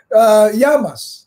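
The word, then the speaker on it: γεια μας: so how do you say cheers in Greek Yama Yama Yama that's fantastic so other are there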